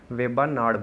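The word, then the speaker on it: Vembanad: Language की बात करें तो इसे वेबानाड बोला जाता है, क्योंकि नाड का मीनिंग क्या होता है, यहाँ पे लेक होता है, ठीक है। तो आप इसको किसी तरीके से भी प्रोनाउंस कर सकते हैं।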